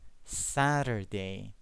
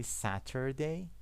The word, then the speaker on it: Saturday: Saturday. Flap T. Saturday. You can say Saturday. Okay? But it's more common, it's more natural to say Saturday.